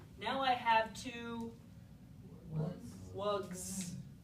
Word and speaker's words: wugs: wugs, right? So listen to that sound at the end. Wugs. Is that an S? It's a Z sound, okay?